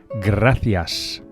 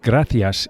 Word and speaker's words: gracias: Thank you, which in Spanish is gracias. Gracias. The C of gracias is pronounced as an English TH, as in thanks, the same word. Gracias.